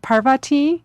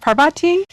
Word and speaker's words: Parvati: her name is pronounced Parvati you know in the west people uh typically say Parvati but the proper Sanskrit pronunciation is Parvati so uh some people